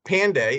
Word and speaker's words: Pande: trying to find out what it is nita pandey is that that's how it's pronounced nina that is correct mark great so